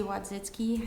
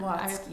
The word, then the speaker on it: Watzke: Yeah, so this is an item that Cassidy Wadzicki. I think I'm pronouncing her name right. If I'm not, Watzke. Cassie Watzke. Watzke, Okay, yeah.